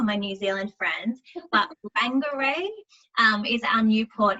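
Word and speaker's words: Whangārei: the day there and i will try and pronounce this correctly for my new zealand friends but bangarray um is our new port in new zealand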